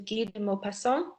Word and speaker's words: Guy de Maupassant: So in this case, you would say his name, Guy de Maupassant. It looks like Guy. That's how we would say it in English, but the French pronunciation is Guy de Maupassant.